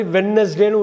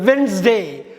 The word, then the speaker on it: Wednesday: நீங்கள் நார்மலாக உச்சரிக்கிற மாதிரி வெட்னஸ்டேன்னு உச்சரிக்கக்கூடாது. வென்ஸ்டே, அந்த டி வந்து சைலண்ட்டு. வென்ஸ்டே, WEDNESDAY, அந்த டியை தூக்கிடுங்க. வென்ஸ்டே, வென்ஸ்டேன்னு தான் உச்சரிக்கணும். நீங்கள் எல்லோரும் வெட்னஸ்டேன்னு உச்சரிக்கிறதுனால நீங்கள் வெட்னஸ்டே தான் கரெக்டுன்னு நினைக்க வேணாம்.